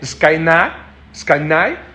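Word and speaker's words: σκηναί: el griego se dice skainai, ¿sí? En el griego original significa esto. No sé si lo pegué o no. Sí, ahí está. Skainai, que se escribe así como skne, significa tabernáculo, pabellones, cabañas, la carpa, habitación o morada.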